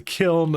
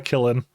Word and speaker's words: kiln: kill him or yeah it's a kiln not a killing yeah so we already